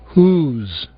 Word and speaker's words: whose: Ouçam agora dois casos de palavras bastante usadas onde o W não é pronunciado. Whole? Whose.